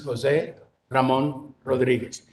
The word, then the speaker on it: Jose Ramon Rodriguez: My name is Jose Ramon Rodriguez. You don't have to roll your R's. That's okay.